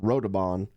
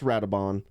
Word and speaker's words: Radobaan: Throughout the whole video, Radobaan, I pronounced Radobaan because I'm an idiot. So just to clarify, it's Radobaan, and I apologize in advance.